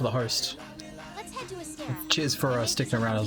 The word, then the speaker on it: Astera: Right, so I'm gonna go to Astria. Not training area. Astria Astera. That's how you pronounce it.